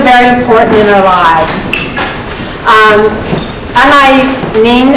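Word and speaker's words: Anaïs Nin: Anais Nin, a lot of people think it's pronounced differently, but I was corrected by a linguist about 5 or 6 years ago, once said, dreams pass into the reality of action.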